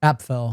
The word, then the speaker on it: Apffel: Appfell. Appfell. Okay. by the way. So, I've been mispronouncing your last name.